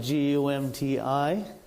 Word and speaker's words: Gumti: And I was born in a village called Gumti. So it's Gum and T. You spell it Gumti.